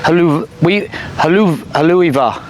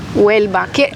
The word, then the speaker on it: Huelva: I just wanted to know how you guys pronounce that. Haluiva. Huelva. Huelva? ¿Quiere ir allá? Yeah, that's right.